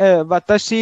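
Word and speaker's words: は: इसमें student वताशी इज a subject, so subject को हम ये पार्टिकल जोड़ देंगे विच इज रिटन डाउन हा, बट द प्रोनाउंसिएशन इज वा।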